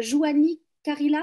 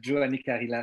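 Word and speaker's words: Juhani Karila: Ça sort le 23 septembre et elle s'appelle Joanie Carilla, c'est ça? Il s'appelle Giovanni Carilla, c'est un homme.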